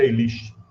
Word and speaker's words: Elish: narrado no enum elish a a a pronúncia elish Então esse enum Liste seria